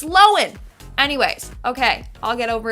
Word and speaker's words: Lohan: she says her name and turns out it's pronounced Lois not Lohan like we've been saying it wrong for years my whole life is alive I've been pronouncing it Lindsay Lohan it's lowen anyways okay I'll get over it eventually in